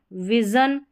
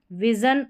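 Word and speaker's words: vision: यहाँ पर एस को हम श पढ़ते हैं, जैसे कि प्रेशर, विजन, विजन, और ये है एशिया।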